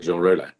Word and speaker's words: Jean Rollin: How do you pronounce the name of Jean Rollin in English? Well, I just say Jean Rollin.